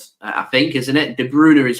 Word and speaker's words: De Bruyne: I always go with de bruyer I know it's pronounced uh in Belgium as de Bruner I think isn't it de Bruner is how uh uh